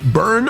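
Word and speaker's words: Byrne: Byern. How do we say it? Burn. Burn. Okay. Well, a U would suffice then.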